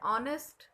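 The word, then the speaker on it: honest: और ये कॉन्सोनेंट से स्टार्ट हो रहा है एन, ऑनेस्ट, लेकिन इसका प्रोनाउंसिएशन क्या आ रहा है? ऑनेस्ट, इसलिए यहाँ पे एन का यूज होगा।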